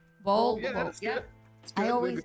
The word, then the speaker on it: Vogl: Vogl. Vogl.